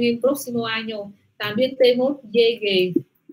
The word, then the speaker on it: llegué: Entonces, fijaos con la pronunciación, fijaos con la entonación, con la tilde que cae en la E aquí.